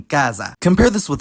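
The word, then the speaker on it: casa: least in Northern Italy s becomes Z when between vowels and not geminated like in Kaza compare this with Roso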